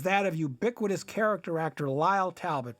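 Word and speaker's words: Lyle: of ubiquitous character actor Lyall Talbot, pronounced and spelled the same L Y L E L.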